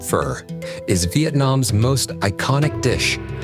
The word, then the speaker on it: Phở: Vietnam's fur, fent, pronounced fur, is Vietnam's most iconic dish.